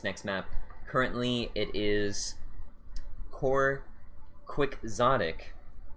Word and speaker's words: Quixotic: And apparently it's pronounced Quixotic.